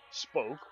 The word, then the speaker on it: spook: does work for ghosts is actually spoke which is spelled spook there some Dutch